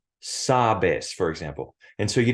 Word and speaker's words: sabes: last syllable in Spanish by default the emphasis in the pronunciation is always on the second to last syllable of any word even if it's a two-syllable word like sabes for example and so